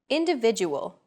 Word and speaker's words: individual: Individual. The stressed syllable vi in individual is deemed more important, so it's pronounced longer than all other syllables.